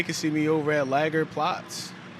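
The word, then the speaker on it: Lagerplatz: see me over at lager plots it's a long a but it's all right yeah very cool very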